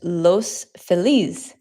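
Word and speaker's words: Los Feliz: There's an area in LA called Los Felas, but it is actually a Spanish word. So sometimes I accidentally pronounce it los feliss. I'll write it for you just in case you've never heard of it. Los file is what people say,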